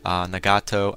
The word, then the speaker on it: Nagato: Nagato, I'm going to pronounce his name probably wrong all the time, because I know it's Nagito, but I always pronounce it wrong.